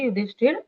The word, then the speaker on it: युधिष्ठिर: करने की जरूरत नहीं है कि युधिष्ठिर बोल रहा है इसलिए युधिष्ठिर उवाच ऐसे, अच्छा। लेकिन वो र का उच्चारण पूर्ण करना होता है।